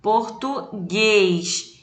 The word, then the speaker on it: português: a última tá então um exemplo aqui ó português em português a sílaba mais forte a última oxítona então ele só acrescentou